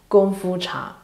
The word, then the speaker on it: Gongfu Cha: It's Gongfu Cha, because in their native dialect, Gongfu and Kungfu, they pronounce totally different, and it's Gongfu Cha. However, in Mandarin and many other dialects, both words are pronounced identical as Gongfu.